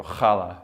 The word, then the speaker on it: challah: make the you know you want to go holla you know but it's not pronounced challah if that's what you're wondering it